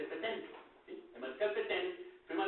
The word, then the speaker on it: Pétain: fue el mariscal Pétain, es Pétain, se escribe Pétain, pero dice Pétain, ¿sí?